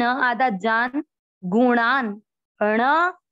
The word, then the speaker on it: गुणान: पहले चरण में देखा है प्रकृति पढ़ना है, जान जा पूरा न आधा जान, गुणान अण अण का उच्चारण न जैसा नहीं करना, कहीं लोग गुना ऐसे पढ़ते, गुणान।